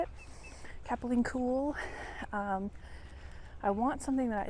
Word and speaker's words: Capilene: Capilene Cool.